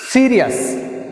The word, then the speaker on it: serious: Serious. Serious, see here I am pronouncing more force, first syllable is pronouncing more force.